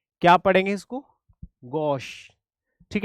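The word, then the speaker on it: gauche: ठीक है, इसको ना च पढ़ना है ना स पढ़ना है, इसको बीच के शब्दों में। ठीक है, इसका प्रोनाउंसिएशन बहुत मैटर करता है। क्या पढ़ेंगे इसको? गॉश।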